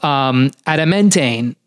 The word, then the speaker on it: adamantane: And Bromantane itself, it's a derivative of adamantane.